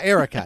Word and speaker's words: Erica: Erica rhymes with America. That's what I'm remembering. Oh yeah, Erica.